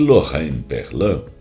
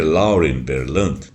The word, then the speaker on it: Lauren Berlant: Só que Lorraine Berland, na realidade, se pronuncia Lauren Berland porque ela é americana.